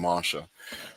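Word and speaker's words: Moshe: We pronounce his name Masha, but I believe what's written in there, and it's very clear from his writings.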